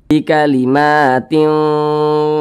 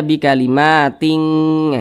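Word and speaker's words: بِكَلِمَاتٍ: disamarkan dan juga didengungkan bikalimatin nah seperti itu jangan dibaca bikalimating itu salah tapi seimbang samar dan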